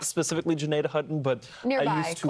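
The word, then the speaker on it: Gnadenhutten: toward places like Tuscarawas County, toward what's called Janadah. That's how you pronounce this city name. I used to live there. There you go. You used to live there. I used to, well, not specifically Janadah, but nearby, I used to close enough.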